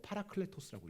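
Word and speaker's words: παράκλητος: 이 보혜사란 말 뜻이 헬라어로 파라클레토스라고 읽어요.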